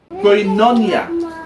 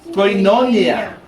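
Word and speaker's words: koinonia: Sabi diyan sa Hebrews 10:25, "Ang Greek word na ginamit dito sa fellowship ay coinonia." Alr ulitin natin. Coinonia. All right. Yan ang pronunciation niya. Nailagay ko sa baba. Coinonya.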